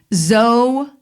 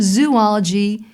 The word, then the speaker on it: zoology: took there was a zoology now in the future when you see z-o-o ology do not pronounce it zoology it is zoology which we all were